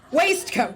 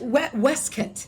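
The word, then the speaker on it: waistcoat: cutaway coat, usually with a matching waist coat, pronounced wcat. Shut up. Not waste coat. No. No. I didn't know that. Westcoat. Weskit.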